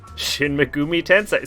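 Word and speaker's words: Shin Megami Tensei: Shin Megumi Tensei.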